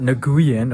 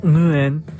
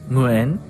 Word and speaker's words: Nguyen: Actually, it's pronounced Nguyen. All I know is it's gotta come from your uvula.